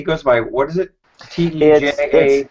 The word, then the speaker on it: Teja: T-E-J-A? It's T-E-J-A. It's pronounced Teja or Teja P, and his last name is Pangchingnula.